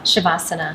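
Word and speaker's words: śavāsana: probably my favorite pose is it shavasana or savasana shavasana shavasana but it's spelled sa a okay so when you're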